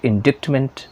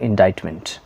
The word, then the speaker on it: indictment: Pronunciation संभल के करिएगा क्योंकि यहाँ पे INDICTMENT इंडिक्टमेंट ज़्यादातर गलती से बोलते होंगे, लेकिन ये होते हैं इंडाइटमेंट।